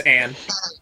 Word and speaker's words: Anne: I mostly enjoy On vs. Luz because of my cartoon bias. That's literally the main reason. Oh, you enjoy it so much you pronounced Anne's name wrong. On? Yeah, it's Anne.